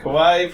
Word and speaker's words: kawaii: good k for kawaii kawaii pronounced like Hawaii listen come on you